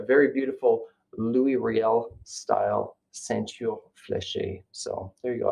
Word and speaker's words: ceinture fléchée: So today, in honor of Métis Week, to share this Ceinture Fléchée. This is a Métis sash, sometimes called a Voyageur sash in midship. Ceinture Fléchée, I believe, is the correct pronunciation.